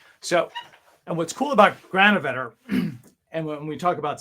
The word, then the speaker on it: Granovetter: I don't know if I pronounced his name. Granovetter. Mark Granovetter. Sure. Mark Granovetter.